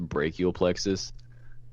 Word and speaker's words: brachial plexus: hundredth person to do this but it's actually pronounced brachial plexus uh yeah yeah like you you are like